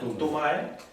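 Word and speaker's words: Du Mai: Aquí tenemos los 12 principales más el Tumae, que se escribe con D, se pronuncia como si fuese una T, Tumae, y el Genmae, aunque se escriba con una R, sí, suena como una J, ¿no?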